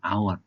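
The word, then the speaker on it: hour: অ্যান আওয়ার, আওয়ারের এইচ অনুচ্চারিত, সুতরাং ও এর উচ্চারণ স্বরধ্বনির মতো।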